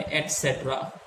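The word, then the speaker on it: et cetera: ये होता है एटसेट्रा। स्पेलिंग देना चाहेंगे फिर बस ETCETERA, ETC।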